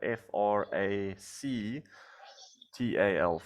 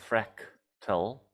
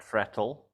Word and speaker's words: fractal: it's not spelled right you spell it with a f r a c t-a-l Frac tell um not not frattle so fractal and then you said